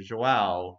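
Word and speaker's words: João: Vision? Yeah, the j sound there. Oh. Yeah, it's yeah. It's the very much It's, so. you can say vision, you can say joao.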